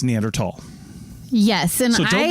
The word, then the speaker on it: Neanderthal: it's okay to say Neanderthal but when you're referring to the fossil species that is a ancestral line of the human lineage and possibly related to us it's neander tall yes and I so